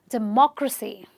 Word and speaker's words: democracy: If you have this as your suffix, you will stress on the third last syllable. This is my last syllable, this is my second last syllable, and therefore this has to be the third last. So I will say democracy.